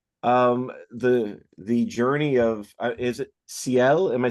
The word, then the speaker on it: Ciel: The journey of is it Ciel? Am I saying it right? Yeah, Ciel yeah.